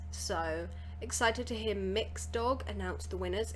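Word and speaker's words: Mx.: to hear so I learned that this is pronounced mix so excited to hear mix dog announce the winners it's like a gender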